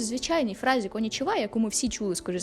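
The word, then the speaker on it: こんにちは: там є ха ну в херагані Воно читається як ха але в конічва вона звучит ва і ви такі А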